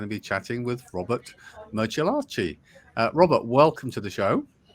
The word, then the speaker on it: Martellacci: You know, if you ever had a Martell cognac, it's Martellacci.